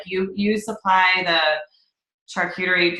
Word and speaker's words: charcuterie: Like, you supply the charcuterie.